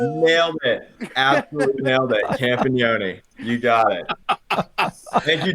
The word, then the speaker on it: Campagnone: Justin Campagnone. Nailed it. Absolutely nailed it. Campagnone.